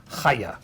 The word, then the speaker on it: Chaya: it it's pronounced C her name is spelled c h a y a but it's haa you got it haa I practice that so